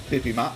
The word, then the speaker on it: bibimbap: bulgogi and next up we have the dulcet pippi ma such a fun word to say i think